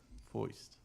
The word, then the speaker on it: foisted: word of the day P voiced rhymes with moist it does this is